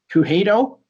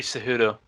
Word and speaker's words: Cejudo: he was also accompanied by another fighter Henry Kouhei doe Henry cejudo the who'd oh thank you it's so hard pronouncing everybody's name so he just fought Dominick